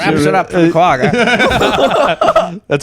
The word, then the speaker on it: quagga: The name quagga, with the G's pronounced with a guttural ch, is an onomatopoeia.